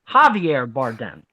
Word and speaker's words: Javier Bardem: a jte on that one and it is pronounced javi are Javier Bardem Javier Bardem is Perez I know that I